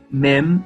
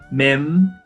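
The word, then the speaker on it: מם: Se a boca se fecha, mem, a gente está pronunciando da forma correta.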